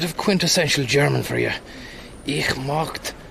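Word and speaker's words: möchte: Ich mocht, pronounced like mukti, means I would like.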